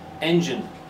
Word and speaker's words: engine: It's the first syllable. Engine. So the gine becomes gin.